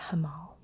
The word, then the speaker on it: Hamal: alpha eritas alpha riotous also known as or it could be pronounced as hamal um i think either way would work and then we've